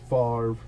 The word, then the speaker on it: Favre: A legendary contender, Brett Favre for the Green Bay Packers. The V comes before the R.